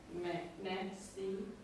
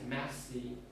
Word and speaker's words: merci: Is the thanks in French pronounced like merci? Which one? Thanks. Yes, merci.